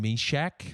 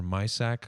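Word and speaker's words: Mysak: is uh jan jan meshach i think that's how it's pronounced or my sack i don't know how you want to say it jan my sack it's meshack i think i'm i'm pretty sure yeah yeah i think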